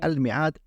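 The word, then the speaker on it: الميعاد: Aquí, aunque la pronunciamos al-mi'ad, la alif está omitida.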